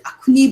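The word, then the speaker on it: Akhuni: from the sumi's honey which other naga tribes pronounce it as akuni because of the difficulties of pronounce pronouncing the x in now so what is actually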